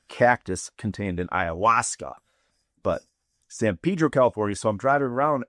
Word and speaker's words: San Pedro: That's a synonym, meaning that's the colloquial like pronunciation of a word that exists elsewhere and is pronounced differently. So synonym, not synonym, not like the shirt that I'm wearing. That's San Pedro, as in the hallucinogenic